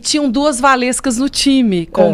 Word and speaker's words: Walewska: atenção durante o treino Valesca as duas olhavam ah diferenciar e nós duas o meu nome escreve exatamente assim como se pronuncia com os dois w e ele começou a